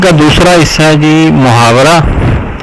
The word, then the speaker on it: محاورہ: دوسرا حصہ ہے جی محاورہ۔ محاورہ عربی زبان کا لفظ ہے جس کا صحیح تلفظ محاورہ ہے اور مفاعلہ کے وزن پر ہے۔ یہ عربی زبان میں